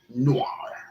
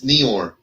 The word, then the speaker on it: Noir: Noir. But he's Nior. That's not noir. Is it Nior like that? Yeah. Then it's Nior. Yeah. It's not noir. It's Nior. Okay, whatever. Rhymes with Eor.